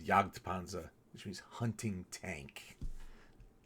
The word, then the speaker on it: Jagdpanzer: what Jagdpanzer means, and it's really Jagd with a D. Is a mispronunciation of Jagdpanzer, which means hunting tank.